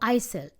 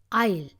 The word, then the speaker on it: aisle: to the International International Isle s is silent no no Isel Isle it's next to the